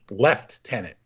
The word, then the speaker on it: lieutenant: The word lieutenant is spelled with a British spelling, with left-tenant. That's right. L-E-F-T-E-N-A-N-T, lieutenant. I don't know if they call them lieutenants or lieutenants, but it's spelled like lieutenant. Yeah. I've heard both. I've heard it pronounced both ways, even though it's spelled that way by the British.